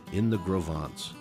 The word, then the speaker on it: Gros Ventre: John y Jess extrajeron ellos mismos las piedras para los cimientos en Gros Ventres (pronunciado: Grow Vaunts).